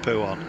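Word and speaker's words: Pouhon: corner coming up and it is yes pronounced poo on it's uh it's gonna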